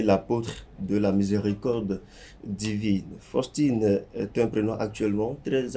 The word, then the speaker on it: Faustine: Déjà, sachez que Faustine s'écrit avec F-A-U, mais se prononce Faustine.